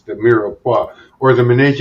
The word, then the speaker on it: mirepoix: It's the mirepoix, or the ménage à trois, as my daughter calls it. No, that's not it. It's mirepoix. You're saying it wrong.